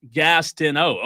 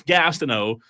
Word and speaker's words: Gastineau: Texter says Gastineau pronounced Gastineau. Okay, so it's Gastineau.